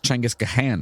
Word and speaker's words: Genghis Khan: Yeah, it's pronounced like Chenghis or Chenghis. Chengiz Khan, right?